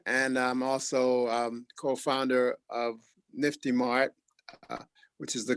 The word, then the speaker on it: NFTiMart: I'm the co-founder of YesCoin, and I'm also co-founder of NFTiMart, which is the correct pronunciation of our company, with Dr.